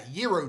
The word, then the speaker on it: Gyro: last animation animated - gyro drums not gyro because it's pronounced gyro if you've got a flatbread or some crap yeah hero drums um according to whale